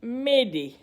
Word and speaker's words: m'aider: This comes from the French word M'aider, meaning help me, and is pronounced approximately M'aider.